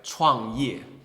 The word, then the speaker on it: 创业: You can pronounce it like 创业, right?